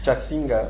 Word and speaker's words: Kasinga: C'est Kasinga, mais si vous dites Kasinga, ça va.